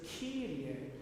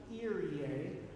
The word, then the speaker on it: Kyrie: Now remember, the word is Kyrie, so it's not Irie, right? That sounds like it's a little too, it's lacking consonants.